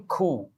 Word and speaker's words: coup: Coming to the next one, political coup. There's one important word here. The letter P is silent.